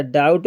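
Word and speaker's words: doubt: बोला ही नहीं जाता डाउट में बी साइलेंट है बी नहीं बोला जाता है पढ़ा जाता है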